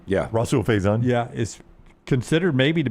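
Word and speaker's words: Rahsul Faison: Yeah, Rasul Faison.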